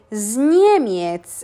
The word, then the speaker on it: z Niemiec: As we can see, we do a phonetic liaison of the Z with the next words. So we don't really pronounce it z Niemiec. Jestem z Niemiec. We kind of join it together and we say z Niemiec. It flows, no?